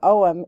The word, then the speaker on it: Ogham: is spelled out here so it's not spelled the way that it sounds like most GIC words uh so omam is just an ancient